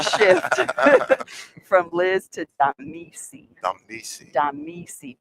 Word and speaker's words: Damisi: Damisi. Damisi. D-A-M-I-S-I.